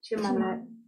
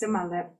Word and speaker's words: Chimalep: Chimalep. Chimalep. Chimalep. She pronounces it in her dialect as Simalep. Himalep. Chimalep. Chimalep or Simalep.